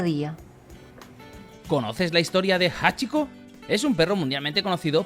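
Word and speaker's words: 八: el número ocho que en japonés se pronuncia Hachi por esta razón decidió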